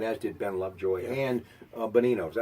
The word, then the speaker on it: Bonino: He got a goal, by the way, last night, as did Ben Lovejoy and Bonino. Is that how you say it? Yeah, Nick Bonino.